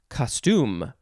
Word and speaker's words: costume: looks like this one you would emphasize the second syllable so it would be costume costume costume costume i guess you could also emphasize the first syllable if you want as well so this is a